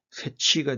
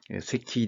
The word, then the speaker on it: Secchi: 그 이름이 새키 디스크입니다 shi 를 영어식으로 읽은 새치가 되죠 그래서 미국 사람들은 새치 디스크를 하고 이거 없는 경우도 있었는데 예 원래 이것은 이탈리아 법 에 사람의 이름이기 때문에 이탈리아 발음으로 s 키 리스크가 옳다고 합니다 에 급한 어떤걸 쓰느냐